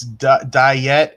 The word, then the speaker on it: Dyett: Okay, it's Diet High School, DYETT.